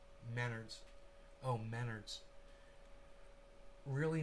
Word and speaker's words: Menards: other just google those students together and it's pronounced menards oh menards really not important though yeah it's